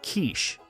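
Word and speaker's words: quiche: A man sitting at the next table leans over and whispers, "Um, I think it's pronounced kiche."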